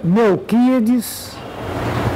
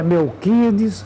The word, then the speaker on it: Melchíades: O nome do meu pai é Melquides, se escreve Melchíades, mas é Melquides Rodrigues Montes.